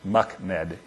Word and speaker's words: MUCMD: use of complex medical data which is is pronounced mckm if any of you wondered how to say